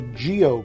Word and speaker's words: GEO: not anything weird even though it looks like geo to me but sometimes you never know it is it is geo and uh they've actually been another company that